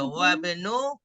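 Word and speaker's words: وابن: banu ya hamzah nggak dibaca wabnu ha Hamidin.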